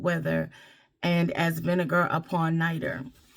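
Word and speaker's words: nitre: and as vinegar upon nighter. So it's spelled n I t r e but it's spoken in like n i t e r.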